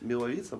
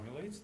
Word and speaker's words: Милавица: сегодня владелец и основатель сети milavitsa но ведь милавица правильно вот но ну скажи скажи как правильно говорить только в полный голос у нас нас